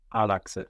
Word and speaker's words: Άλλαξε: Άλλαξε. Άλλαξε. And we have the accent third from the end, no?